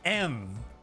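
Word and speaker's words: ん: So this word in Japanese isn't pronounced N, but M. M. Really just shove it up there.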